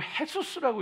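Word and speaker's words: Jesús: 그래서 라틴어 쓰는 사람들 지저스라고 써놓고 헤수스라고 읽어요.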